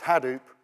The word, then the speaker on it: Hadoop: especially about Hadoop, because he pronounces it completely differently from anyone else, and we've all been pronouncing it wrong. It's not Hadoop, it's Hadoop, but he's not too precious about that.